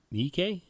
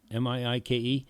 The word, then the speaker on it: Miike: Oh yes, it is Takashi Miike, Miike. John. What? Okay.